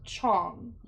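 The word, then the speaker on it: Chang: Um because it's spelled uh like c h a n g, but it's pronounced chong.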